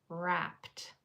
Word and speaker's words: wrapped: So, this first r sound is spelled with a silent letter pair w r.